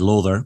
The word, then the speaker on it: Lawther: CX podcast with me today I have James lather Scottish pronunciation who um I was getting it wrong I was saying lather but he just corrected me said lather because actually that's the the way it should